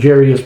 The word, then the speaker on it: Jairus: Now, a lot of people have pronounced, I used to pronounce it Jairus myself, but you look at the spelling, and it's the I comes before the R. It's Jairus is how this is pronounced.